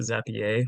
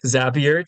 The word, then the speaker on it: Zapier: you can use zappier I always want to pronounce it zapier for some reason but it's a zappier to uh to integrate